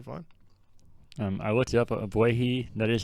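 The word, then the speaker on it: Ogbuehi: Obuehi, that is how you say it.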